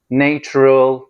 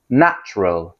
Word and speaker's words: natural: Natural natural değil. İki heceli söylenir. Natural.